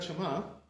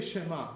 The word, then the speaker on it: Shema: How do you say Shema, right? So some of the Ashkenazim, they say all kinds of things, the Ashkenazim. They say Shema, Shema. That's not correct, how they say, right?